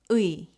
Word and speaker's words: 의: 의 is a combination of two Korean vowels, ư and 이. Together, they form the sound 의. Try saying it with me. Start with ư, the ư sound. Keep your tongue low and relaxed. Then add 이, the e sound. Together, it becomes 의. When pronounced clearly, it sounds like this, 의.